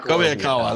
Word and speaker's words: Kobayakawa: Kobayakawa.